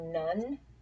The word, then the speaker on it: none: Down here, none, which looks like one with an N in front of it, which makes it none.